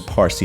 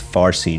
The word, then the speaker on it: Parsi: Today is in modern Parsi language or mispronounced as Farsi due to Arabic influence, nameh means letter, and